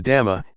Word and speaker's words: dhamma: The dhamma, in Thai pronounced in the same way as the word tum, which means to do, refers to nature that exists by itself.